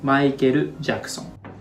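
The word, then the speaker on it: マイケル・ジャクソン: very very similar but one thing you gotta take care of is this r sound so in japanese language we don't have l sound and r sound so l sound and r sound both become softer r it's very soft it's vladi so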